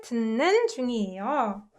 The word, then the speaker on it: 듣는 중이에요: Ut combined with 느, right? 듣는 중이에요. So it's pronounced this way.